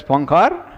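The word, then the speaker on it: Poincaré: This accent over the E, right? The what they call as the acute accent in French, accent. So that indicates that you pronounce it as A. You don't read it as Poincare, but Poincare. Okay, and don't read it as Poincare. Poincare. OI is, the sound is va sound.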